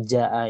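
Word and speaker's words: جاء: Maka kita harus membacanya panjang sepanjang 5 harokat dan tidak boleh putus atau maksudnya wajib bersambung gitu. Jadi tidak bisa dibaca ja berhenti berhenti di ja panjang saja tidak bisa, harus sampai a nya.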